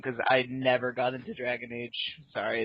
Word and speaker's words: Dragon Age: about it um I you mispronounced that it's not Dragon AG Inquisition it's the Spanish Inquisition the Spanish Inquisition with dragons and magic all right um it is Dragon Age Inquisition Martel um I know